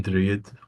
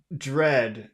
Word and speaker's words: dread: Dread. Yes. Okay, so how do you have to pronounce that middle vowel? Dread. Dread. It's very long. Dread because of the D at the end.